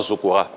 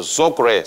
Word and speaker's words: Zokre: Le Zokre, en fait, en réalité, c'est pas Zokora. Explique que je ne savent pas. En BT, la vraie prononciation, c'est Zokre.